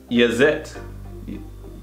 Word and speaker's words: jetzt: How do you say J? Do you say the J's? You know how you say ya? Yeah. That's how you say the J. Like ya? Oh yeah. Ya. Yazet.